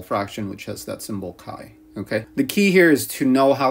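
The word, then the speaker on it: chi: Kai so this is a Greek letter pronounced Kai and if you have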